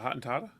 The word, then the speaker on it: Hottentotta: Well, my Hottentotta thing or whatever, how you pronounce it, Hottentotta?